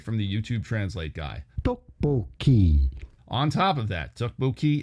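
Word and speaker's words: 떡볶이: insensitivity for the record I looked up the pronunciation to get it right and here it is straight from the YouTube translate guy duckboy on top of that duckboy is a Brilliant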